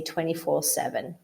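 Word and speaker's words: 24/7: sir thank you yeah the way that we usually pronounce this is we just usually ignore that slash or that that's kind of between them so when we when we say this we usually just say 24 7.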